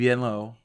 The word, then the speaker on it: Venlo: VVenlow of course VV Venllo that's fun to say venllo I believe is how you say it uh is in the